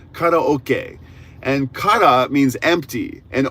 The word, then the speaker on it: karaoke: First of all, karaoke, it's pronounced differently in Japan. We say karaoke, but it's karaoke and ka means empty and ok means orchestra.